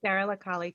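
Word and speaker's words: Sara la Kali: and I guess it was Sarah Lakali. Is that how you say it? Sarah Lakali, correct.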